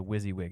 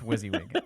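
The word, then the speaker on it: WYSIWYG: on the user side of things it's a wizzywig editor so they don't see any of that uh what you see is what you get oh that's wizzywig um okay that's it's an acronym so kind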